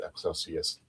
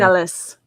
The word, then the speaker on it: Excelis: We're going to be go ahead and reviewing uh the episode Excelsius Dawn. Excelsius uh Rising Excelis. Excelis.